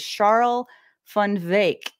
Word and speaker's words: Charl van Wyk: His name is a little tricky to pronounce here, so it doesn't sound like what it looks like. His name is Charl van Wyk.